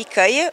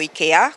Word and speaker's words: IKEA: o nome Ikea ou Ikea comanta forma como se pronuncia começou a fazer parte